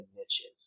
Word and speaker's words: niche: So, um, the the rule of thumb in a lot of lead generation is the riches are in the niches, right?